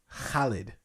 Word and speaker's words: Khalid: grow khalid um and she'd always whenever i would mention him around her she's like uh it's khalid and i was like that is not the way he says it okay it's his